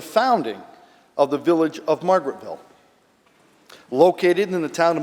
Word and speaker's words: Margaretville: And just as a point of order, it is pronounced Margaretville.